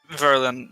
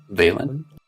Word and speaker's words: Valen: It's Verlin or Verilyn. How's your name pronounced? Valen. Valen.